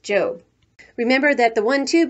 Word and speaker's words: Job: off to her job which in the bible is pronounced job remember that the one